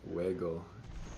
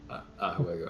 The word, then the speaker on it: juego: Yeah, I mean, es un buen juego. Or was it juego? No, it's actually juego. You said it right the first time. Juego.